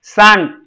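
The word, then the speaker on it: cinq: was perfect for both of you katr okay sank was perfect sank you didn't pronounce meha sank good cease sept pata nahi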